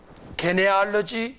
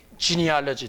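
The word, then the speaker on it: genealogy: 이거를 영어로 보게 되면 족보라는 말을 지니올로지라고 합니다. 요때 지니, 이게 이제 지가 기역 발음이 나게 되면 게네가 되잖아요. 이 게네아에서 나온 거예요. 요 지가 영어로 기역 발음도 나고 지읒 발음도 나거든요. 게네알러지, 지니알러지 두 개가 다 되거든요.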